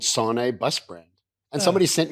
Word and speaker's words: Sanei: Am I saying your name right? Sane. Sane is good. Yes. Very good. Well done.